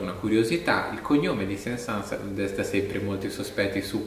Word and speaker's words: Saint-Saëns: Bisognerebbe dire la S finale, effettivamente, anche se non ha una giustificazione grammaticale, nel senso che il cognome prende esattamente il toponimo di una cittadina del nord della Francia, che si chiama appunto Saint-Saëns, che si dovrebbe pronunciare come 500.